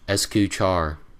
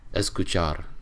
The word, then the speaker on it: escuchar: Char and I'm like no it's escuchar and then they're like I don't want to say it like that I'm like well that's how you pronounce it it's escuchar and then they're like